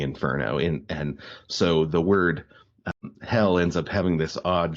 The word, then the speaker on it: Hel: It's pronounced hell.